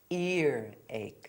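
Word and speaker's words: earache: There's no H before ear and there's no H before ache. So, it's ear ache.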